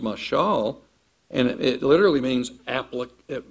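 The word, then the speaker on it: מָשָׁל: In Hebrew, it's pronounced mashal, and it literally means it means comparison.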